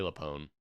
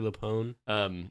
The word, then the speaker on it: LuPone: Patty Lapone. Patty Lupone. Italian last name.